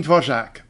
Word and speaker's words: Dvořák: Today I'd like to tell you about the pronunciation of the name of my favorite Czech composer, Antonín Dvořák.